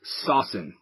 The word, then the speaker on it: saucin: July 19 2009 what is saucin saucin yes sawsan you spell it sa u CI n um that when